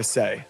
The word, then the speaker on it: Sei: You can follow along with the Sei journey on X at Sei Network. Sei is spelled S-E-I.